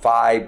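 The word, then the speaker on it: phi: feet yeah okay it you might have always pronounced it five but they pronounce of feet our flow thumb I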